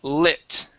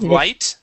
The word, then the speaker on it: lit: Now, this here is lit. Instead of light, he lit himself a cigarette.